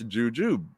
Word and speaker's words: jujube: wow wow huh okay that's according to the dictionary i looked it's jujube uh tube uh rhymes with tube all right so it's